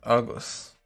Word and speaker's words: agus: would be ish but i'm pronouncing it as broad what's up with that well in this context this is a shortened form of the irish word for and just agus why it shortened who